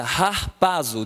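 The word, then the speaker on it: ἁρπάζω: querida a palavra arrebata essa é uma palavra queridos grega que eu coloquei aqui que se pronuncia rar paso de agarrar paso o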